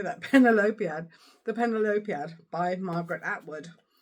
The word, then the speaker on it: Penelopiad: Penelopiad.